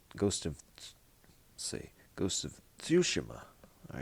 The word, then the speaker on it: Tsushima: time or ghosts of sushima ghost of see ghosts of tsushima all right something like that Japanese pronunciation on it you got to pronounce the T I don't think ghost